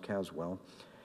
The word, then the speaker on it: Caswell: The most famous and next encounter with Greek comes with the visit of Reverend Caswell. Caswell or Caswall, we think it's always pronounced Caswell.